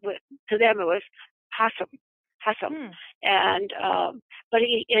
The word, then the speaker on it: Hassam: and kind of just, if you say it fast enough, it turns into Hassam.